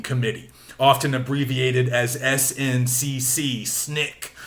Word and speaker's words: SNCC: often abbreviated as SNCC Snick is how that's often pronounced I think and a lot